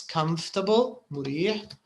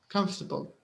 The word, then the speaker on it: comfortable: com like this comfortable if you want to pronounce it like it's written because it's not it's not pronounced in the same way it's written comfortable comfortable yes I I